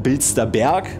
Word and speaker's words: Bilster Berg: mal die der bildwerke korrekt ausgesprochen bilster berg weil es ist ja der bilster berg und nicht bilster berg fachkräfte teile fünf